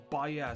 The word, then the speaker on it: Baia: am pretty confident in saying that it is Baia, so that's what I'm going to say for the rest of this review.